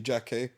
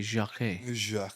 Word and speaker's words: Jacquet: stick home with Jeremy Jackie because I do think that he's got all the attributes that Can you say his name properly? Jeremy Jac. Yeah. Not Jack.